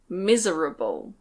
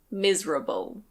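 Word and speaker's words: miserable: Next we have "mis-e-ra-ble". Mis-e-ra-ble. You can say it that way, but we usually say "mis-ra-ble". Mis-ra-ble.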